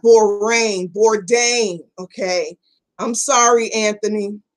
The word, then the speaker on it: Bourdain: Oh, pronounce rain. Bourdain.